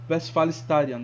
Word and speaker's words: Westfalenstadion: E também tem o nome que é em alemão e a galera fala em inglês, que é o Westfalenstadion, ou Westfalenstadion. E aí a primeira pronúncia foi em inglês e a segunda foi em alemão.